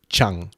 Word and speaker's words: Dschang: It's pronounced Chang. Dschang is Chang.